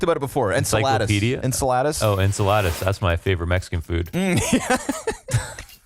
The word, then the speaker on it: Enceladus: going to Google it quietly maybe that's the pronunciation I can never remember in we talked about before en Enceladus oh Enceladus that's my favorite Mexican food it's the uh